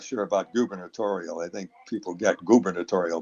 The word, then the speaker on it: gubernatorial: election for governor but they had us pronounce it gubernatorial the the U was pronounced like a you you you editorial so they had different